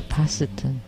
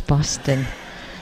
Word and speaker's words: Boston: Harvard University and MIT you don't say positon its Boston see I can even